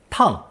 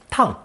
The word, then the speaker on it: 趟: Pronounced fourth tone, tang, tang.